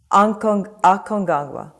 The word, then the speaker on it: Aconcagua: Can you pronounce it for me? Aconcagua.